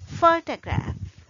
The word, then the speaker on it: photograph: An interesting thing about the word photograph is that it has three syllables. We use the schwa sound for the second syllable. It is unstressed syllable. The first syllable is the stressed syllable. So if it is stressed syllable, we cannot use schwa sound. So we say photograph, photograph.